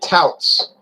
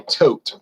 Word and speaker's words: tout: age and it it touts i hear some people say tote but that's they just read the word they don't want to hear it pronounce it's touted they tout it as not having added